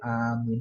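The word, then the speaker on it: آمين: Kabulkan tuh yang a-nya panjang, minnya juga panjang. Jadi kalau habis salat berjamaah, habis alfatihah walin amin panjang dua-duanya itu artinya kabulkan.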